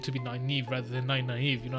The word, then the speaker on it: Nynaeve: Okay, so her name, that the way I said was Elmira Nynaeve. This is how you pronounce it. Elmira Nynaeve.